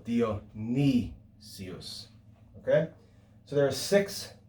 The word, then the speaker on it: Dionysius: gives you is dionysius it's got an upsilon in that third to last syllable dio ni sius okay so there are